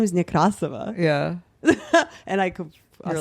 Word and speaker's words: Nekrasova: I've never been like, actually, it's like a Russian pronunciation. Yeah. I've never even, my name is Nekrasova. Yeah. And I could, you're like Nekrasova. I came to America, I said my name Nekrasova.